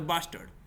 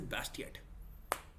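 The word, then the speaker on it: Bastiat: I read the book I pronounced him as a bastard and I know you have listened it from my mouth is bastard only but it is Bast yet b s t i a t okay what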